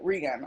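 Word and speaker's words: Reagon: Toshi Reagan mentioned that Regan, I always say her name wrong.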